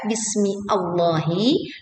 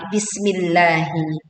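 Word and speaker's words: بِسْمِ اللّٰهِ: Jadi tidak dibaca bismi Allahi, tetapi bismillahi.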